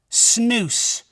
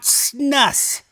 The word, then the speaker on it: snus: no pun intended and yes it is pronounced snoo not Snus I remember back whenever America first uh released their snoo everybody started calling it Snus and that was with